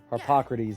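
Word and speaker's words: Hippocrates: Hypocrates. That's how you pronounce it.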